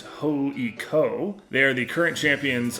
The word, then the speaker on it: HJK: So yes, on this trip to Helsinki, we saw HJK, which in Finnish is pronounced HJK.